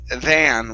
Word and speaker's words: than: instead of then okay the word is than within with an a sound than yeah there's no e